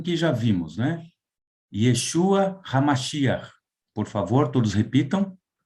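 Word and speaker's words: ישוע המשיח: Yeshua HaMashiach. Por favor, todos repitam. Yeshua HaMashiach. Yeshua HaMashiach.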